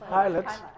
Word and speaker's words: Pilate: it in english but pilate pilate is it pilot yes he avoids precisely he's not asking the the pilots type of question when jesus is on trial and he says and pilate asked him okay what